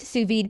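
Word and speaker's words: sous vide: the same Suz V the Su VY pronounced suid Cooks vacuum sealed bags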